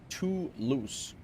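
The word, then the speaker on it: Toulouse: Home of the Airbus pronounced too loose.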